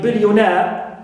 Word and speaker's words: billionaire: Example, we have the suffix a, like in billionaire. So na is stressed, right?